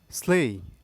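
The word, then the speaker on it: slew: স্লেই এস এল এ ওয়াই স্লেই।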